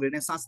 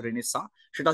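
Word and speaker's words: Renaissance: কি কারণটা বলে দিই রেনেসা বা মানে চন্দ্রবিন্দু যুগের যে প্রোনান্সিয়েশনটা রেনেসা সেটা হচ্ছে ফ্রেঞ্চ প্রোনাউন্সিয়েশন আর রেনেসাস হচ্ছে ইংলিশ প্রোনাউন্সিয়েশন যেটাই তুমি বলবে দুটোই ঠিক আছে তো এবার রেনেসাস বাসা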